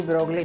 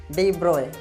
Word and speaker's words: de Broglie: Actual में ये डी ब्रोगली नहीं है, ठीक है। What is this, डी ब्रोए, क्या बोला जाएगा ये, डी ब्रोए हाइपोथेसिस, ठीक है।